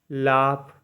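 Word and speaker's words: laugh: आर डॉटर मतलब बेटी एफ के धवनी में भी हम लोग जीएच को पढ़ते हैं ठीक है जीएच को क्या पढ़ते एफ पढ़ते ठीक है एल ए यू जी एच लाफ मतलब हसना एल आई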